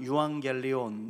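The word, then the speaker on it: εὐαγγέλιον: 헬라어로는 유황겔리온 이렇게 발음하는데 죄로 인해서 죽음과 멸망으로 나아갈 수밖에 없는 절망적인 존재인 인간.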